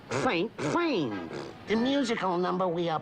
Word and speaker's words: Saint-Saëns: It's pronounced Saint Sains.